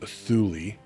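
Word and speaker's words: Thule: Thu pronounced Thulli.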